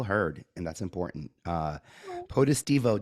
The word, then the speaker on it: Potestivo: and that's important uh potestivo doesn't roll a uh positivo I get a lot um but either way